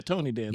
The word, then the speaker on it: Tony Danza: Yeah, Tony Danza.